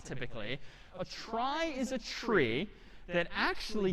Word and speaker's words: trie: weird name in pronunciation short for retrieval pronounced try typically a try is a tree that